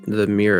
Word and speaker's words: mere: So from what the Forgotten Realms fandom has, it was named the Mere of Dead Men, referred to the fallen kingdom during the invasion.